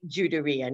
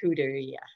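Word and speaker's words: Judería: I'll talk in a minute about that, but you would say Juderia, not Juderia. So the J is pronounced.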